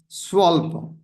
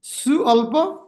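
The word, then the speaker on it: स्वल्प: Swalpa. U become V. Swalpa. You just pronounce it Su alpa, just quick.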